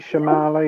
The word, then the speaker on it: Shyamalan: Night, how you pronounce his last name? M. Night Shyamalan, yeah.